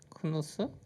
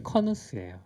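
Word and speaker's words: Knuth: 크누스? 네. 도날 크루스? 이거 D를 제가 빼먹었네요. 네. 정답은 네. 도널드 커누스예요. 커누스. 네, 그 KUNU가 아닌데 네.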